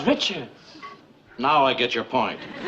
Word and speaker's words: Richards: You said Rickards! I don't get your point, Murr. Her name is Richards.